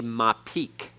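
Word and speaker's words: mappiq: is not a doggish it is called a ma peak ma peak m AP p IQ ma keek m AP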